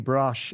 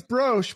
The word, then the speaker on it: Brosh: It looks like it's Brosh, but everybody says Brosh. So I'm like, either everyone's saying it right or wrong, or...